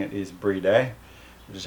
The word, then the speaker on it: BRIDE: this with um i guess i'll say it bride but i know that the correct way of pronouncing it is brie day which is how the japanese pronounce it but